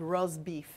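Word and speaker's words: rosbif: particular they call it in Tuscany it's called rose beef and that is spelled ro s bi F and it is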